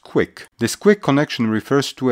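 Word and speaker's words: Qwiic: hard to remember but it's actually pronounced quick this quick connection refers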